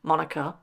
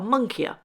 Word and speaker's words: moniker: Now, I don't know whether it's my dyslexia or whether it's just me, but for years I called it a monkeyer. I thought I was saying it right. Monkeyer, monkeyer, monkeyer.